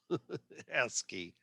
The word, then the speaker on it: ASCII: is called ascii and these are and it's pronounced ass ascii like that and it stands for american standard